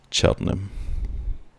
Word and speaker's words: Cheltenham: I almost slipped up on that pronunciation, but I do know that is Cheltenham, which is a location in the UK.